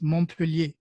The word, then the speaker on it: Montpellier: It's no, you don't pronounce the T in French. When the Mont, it's Montpellier.